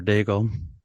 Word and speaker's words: Daigle: soon as I said Alexander, he had Alexander Daigle, and then so we went with Derek Alexander Daigle.